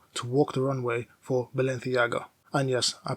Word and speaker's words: Balenciaga: Eduardo Camavinga made history by becoming the first footballer to walk the runway for Balenciaga. And yes, I pronounced it properly.